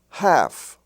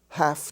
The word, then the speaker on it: half: have calf and half they're spelled with LF but the L is not pronounced so you have calf a young calf half I have half a dollar half dollar h-a-l-f is pronounced half as if it were spelled h-a-f-f and in the LK